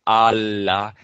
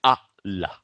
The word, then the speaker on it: Allah: stop to the a you would not say Allah you say ah la the third component is